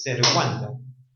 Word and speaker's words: servanda: Muchos decimos pacta sunt servanda, pero servanda, cuando nos referimos a los contratos, deben cumplirse, pero será servanda, la correcta pronunciación es servanda, y eso tiene un porqué, que también está en el libro, ¿no?